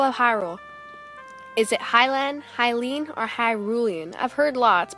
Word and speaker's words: Hylian: But in my opinion, I have always pronounced it Hylian, like you're a Hylian person. I have heard Hyrulean, which makes a lot